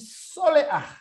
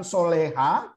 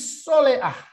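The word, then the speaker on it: שולח: ini berakhir dengan gutural, maka dia menjadi soleah. Ya, saudara perhatikan cara bacanya bukan soleha. Oke. Kita sudah tahu ini dalam Ibrani 1 ya. Ya, tapi soleah. Ya, sama dengan ruah, bukan ruha kan gitu ya.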